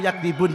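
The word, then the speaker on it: يَكْذِبُونَ: Bisa dibaca bima kanu yakdzibun dengan takhfif, berarti tanpa tasydid, atau dibaca dengan bitasydid, bima kanu yukadzibun. Nah, berarti bisa 2 bacaan.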